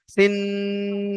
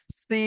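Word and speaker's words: سين: অক্ষরটার নাম হল সি এর মাঝখানে টান হবে শেষে টান হবে না সি এমনভাবে যদি বলি তো ভুল হবে এর সঠিক উচ্চারণ হবে সি টান দিয়ে দন্তন্য গিয়ে থামবে। সিন তারপরে দেখেন ওই একই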